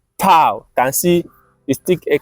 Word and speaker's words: tau: They go I'm saying from our letter tau, tau, not tav, tau. That is the pronunciation of the letter tau.